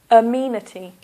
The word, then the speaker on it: amenity: The first word is amenity. So that's 4 syllables. 1, amenity. This is a sound. Amenity. Here is the stress.